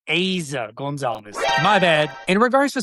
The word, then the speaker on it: Eiza González: I was saying Eiza González. She went ahead and corrected everybody mispronouncing it and said it was Eiza González.